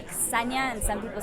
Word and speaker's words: Ksenia: Ksenia, because technically it's Ksenia, but in America, people like don't associate the K and the S like as one sound.